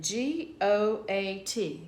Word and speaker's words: goat: Ben, G-O-T, got a, or A, and then G-O-A-T. There's the two vowels together. A is silent. O is going to say it's a long sound.